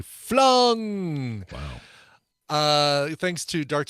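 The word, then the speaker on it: Fluung: rock band uh called flung and I say it like that because there's two U's f-l-u-u-n-g flung wow uh thanks to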